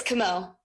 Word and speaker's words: Camus: Counsel, can you, for me at least, because I'm a little challenged, can you pronounce your name so I won't mispronounce it if I ask a question? Sure, it's Camo.